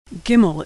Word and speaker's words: gimel: fluent in Hebrew bet gimel is pronounced G as in good never like in general always like in good like most letters it's